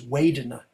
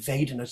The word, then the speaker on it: vedana: So if they say Pali with a Burmese accent, they do it with a W. A Burmese accent is Vedana, but the most international standard Pali is V, Vedana, just so you don't